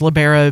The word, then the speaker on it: libero: um someone said that uh the preferred uh pronunciation is libero but I have heard it the other way